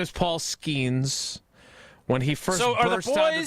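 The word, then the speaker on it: Skenes: Tausch always calls him Skeenus. I did. Which rhymes with something else.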